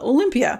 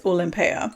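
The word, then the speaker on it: Olympéa: how you say it there's a lot of people that call it Olympia pretty sure with the accent on here it's olympea by Paco Rabon I'm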